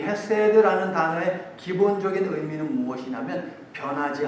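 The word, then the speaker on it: חסד: 히브리어로 헤세드라고 이렇게 한번 적어보세요. 그냥 여러분 발음대로 헤세드.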